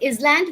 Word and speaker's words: island: The column N is silent where P is silent it's reit butter where R is silent island okay we don't say is land we say island then listen Christmas so